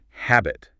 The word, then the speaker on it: habit: That initial H is aspirated. What does that mean? It means you release a little puff of air when you say it. Almost like you're gently fogging up a mirror with your breath. Say habit.